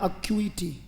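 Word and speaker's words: acuity: इसका मतलब बेटा और उच्चारण क्या है एक्यूटी अक्यू एक्यूटी जैसे भी लिखना चाहे पर उच्चारण क्लियर होना चाहिए अ स्किस्मेटिक पर्सन अ नॉन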